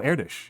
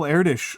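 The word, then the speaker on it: Erdős: with a name like Eritish, uh, with like the weird like double carrots over the O, uh, which somehow changes the way the S is pronounced because Hungarian. Uh, but yeah, Paul Erdish was a mathematician who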